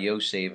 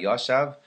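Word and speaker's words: יושב: Because if he reads, like, let's say, Mordechai Yoshev, and Mordechai was sitting in the gate of the king, and instead of saying Yoshev, he said Mordechai Yoshav, well, that alone would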